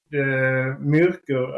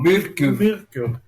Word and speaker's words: Myrkur: But, I think the Myrkur album was really good.